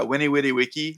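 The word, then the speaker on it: veni, vidi, vici: I I heard that in Latin we do it wrong and that it's uh the V's are pronounced with a W, like a W. Oh, yeah. Yeah. Yeah. Winny Witty Wiki, right?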